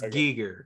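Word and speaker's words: Giger: yeah yeah gigger yeah am i saying it right is it gigger or is it guys it's gigger because i'm pretty sure it's pronounced hard uh he was in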